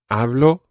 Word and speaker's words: hablo: and this phrase is hablo espanol okay now one thing we've got to watch with this phrase is the pronunciation of the letter b it's not a very plosive be like it's more hablo espanol espanol hablo espanol